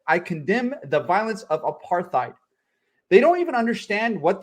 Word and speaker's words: apartheid: Instead, I condemn the violence of apartheid. They don't even understand what these words are. They don't know what apartheid is.